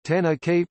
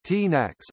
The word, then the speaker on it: Tanakh: The Hebrew Bible, also called the Tanakh, Tanakh pronounced Ta-na-kai or Tanakh, also Tanakh, Tanakh, Tanakh or Micra, is the